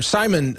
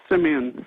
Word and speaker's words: Simeon: another call right now Simeon in England or Simon sorry in England uh sorry I butchered your name there sir but you're on the air go ahead hi there it's uh Simeon from England first time caller great go ahead